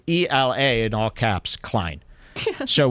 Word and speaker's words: Hila: Hila Klein, which by the way, did you guys know that Hila's name is pronounced Ela. The H is in fact silent. It's supposed to be Ela.